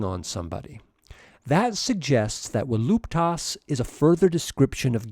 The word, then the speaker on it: voluptas: Voluptas, voluptatis, is a feminine noun. Classical Latin pronunciation gives the letter V a W sound.